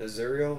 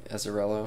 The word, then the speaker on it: Azzarello: Brian Azzurro? No. Azzarello.